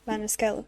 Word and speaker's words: Maniscalco: Is it Maniscalco? Is that how you pronounce it? Yeah, Maniscalco, yeah.